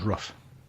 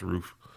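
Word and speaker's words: RUF: thought it was rough. No, it's pronounced roof.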